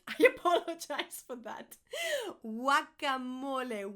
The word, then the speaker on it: guacamole: Guacamole, whack, guacamole, guacamole, guacamole.